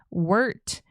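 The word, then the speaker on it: Wirt: Uh, so she lived there and she was married in Connecticut to a man named William Wart Winchester. And in case you're wondering how Wart is spelled, definitely am.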